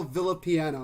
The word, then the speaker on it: Villapiano: it's tough uh but it's uh villa piano in case anybody would like to know see here's the thing